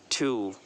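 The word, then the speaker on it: two: Next है टू, टू, इसमें टी ओ, टू, डब्लू यहाँ पर साइलेंट है, टू।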